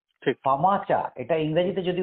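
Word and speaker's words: FAMACHA: এটা আমাদের কাছে একটা নতুন একটা শব্দ ফামাচা এটা ইংরেজিতে যদি উচ্চারণ করি এফ এম এ সি এইচ এ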